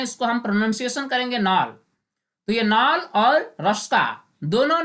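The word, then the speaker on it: Knoll: order palazzo है तो किस जो है यह साइलेंट है इसको हम प्रनंसीएशन करेंगे नाल नाल और रास्ता दोनों ने 1940 फ्री में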